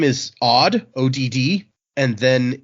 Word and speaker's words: Odd: The name, I'm gonna try my best to pronounce this. The first name is Odd, ODD, and then it's Vetrus, VETRHUS.